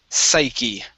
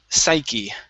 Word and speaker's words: psyche: you were very close don the word is psyche psyche psyche one more time psyche psyche great all